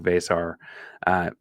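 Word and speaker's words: Veesaar: I was correct on that pronunciation this week. Vesar, big 7-footer from Estonia.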